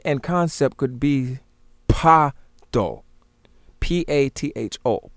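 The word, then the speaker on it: Patho: If we look at the isiZulu, the pronunciation and concept could be Pato, P-A-T-H-O, Pato.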